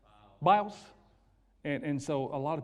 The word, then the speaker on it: Biles: The black girl, Simone Bowles, or am I saying it right? Biles.